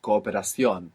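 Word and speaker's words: cooperación: you say cooperation good coion good you pronounced both O's that was correct Cooper just sounds a tiny bit longer Co to cooperate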